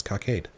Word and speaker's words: cockade: Oh, by the way, I looked that up and that is how you pronounce it. It's cockade.